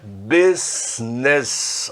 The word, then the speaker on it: business: O inglês, então, tem essas coisas que umas letras que a gente não sabe nem por que ela aparece ali. Mas a pronúncia é business, ok?